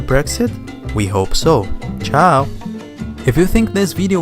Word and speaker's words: ciao: The most common and informal is ciao, ciao, which means bye, and it is pronounced alike ciao in English or Italian.